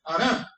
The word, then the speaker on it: Harán: una región llamada Harán, en hebreo, o Harán en español, porque la H es muda, como se escribe con H, en español es muda, la H, por eso se dice Harán, pero es Harán.